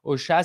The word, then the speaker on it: Ausha: Et puis, en termes d'outils, aujourd'hui, j'utilise pour mon propre podcast Ocha. Ça s'écrit AUSHA.